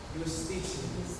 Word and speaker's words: justitia: Justitia. See, can you please pronounce it?